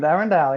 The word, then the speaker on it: Arendelle: I don't even know if I'm going to pronounce it correctly, but Arendelle. Very good, Arendelle, indeed.